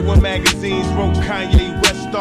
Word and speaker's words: Kanye: Now all I need is y'all to pronounce my name is Kanye, but some of my plastics still say Kane.